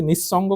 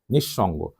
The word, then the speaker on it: নিঃসঙ্গ: হচ্ছে এটার উচ্চারণ নিশ এই বিসর্গ কারণে সটি দুইবার উচ্চারণ হচ্ছে আর দন্তস এর উচ্চারণ কিন্তু কোথায় তালবস আমি লিখছি এটা কিন্তু আমি গায়ের জোরে লিখিনি খেয়াল করুন আপনারা কি নিঃসঙ্গ কে বলেন বলেন নিঃসঙ্গ